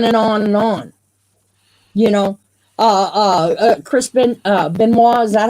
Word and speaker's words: Benoit: You know, Chris Benoit, is that how you say it? Yeah. Chris Benoit.